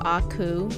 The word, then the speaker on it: aku: and get it right so aku gotta open the throat a little bit on it um so